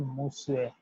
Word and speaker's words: Monsieur: means Monsieur, Monsieur, Monsieur, because the S will be delivered as Sue, I will be delivered as E, and E will be delivered as EU, EU.